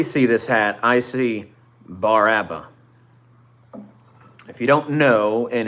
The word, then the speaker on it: Bar Abba: When I see this hat, I see Bar Abba. If you don't know, in Hebrew, the bet in modern Hebrew is pronounced as a B. BR is bar, AVE is Abba.